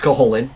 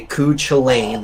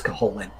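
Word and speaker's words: Cú Chulainn: really cool herculean character named coholin it is pronounced coholin you've seen it say ku chalain that's not how you pronounce the guy it's caholin and he's kind of like the incredible hulk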